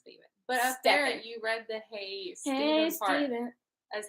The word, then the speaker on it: Stephen: pronounced it as no i said stefan but it was just because there was stefan stephen steve finn it's stephen you read the haste